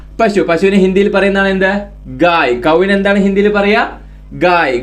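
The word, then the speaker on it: गाय: പശു പശു എന്നുള്ളതിന് എന്താണ് ഹിന്ദിയിൽ പറയുക പശുവിനെ ഹിന്ദിയിൽ ഗായ് ഗായ് എന്ന് പറഞ്ഞു കഴിഞ്ഞാൽ പശു ഒന്നുകൂടെ എഴുതാം ഗ എഴുതി ദീർഘം യ ഗായ് ഗായ് എന്ന് പറഞ്ഞു കഴിഞ്ഞാൽ പശു പശുവിനെ ഹിന്ദിയിൽ പറയുന്നതാണ് എന്ത് ഗായ് കൗവിനെ എന്താണ് ഹിന്ദിയിൽ പറയുക ഗായ് ഗായ് എന്ന് ഹിന്ദിയിൽ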